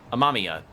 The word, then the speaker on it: Amamiya: That's right, Amamiya. Took a second to remember how that's pronounced.